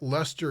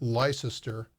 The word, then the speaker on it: Leicester: there Madrid Arizona Leicester you gotta say it right Leicester UK not lie sister and let's see we